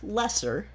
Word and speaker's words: Loesser: It's a show by Frank Lesser, and we're going to actually be seeing him again on our journey. I Can See a Joke. Is that his real name, Frank Lesser? Yes. It's spelled Loesser, so I actually had to look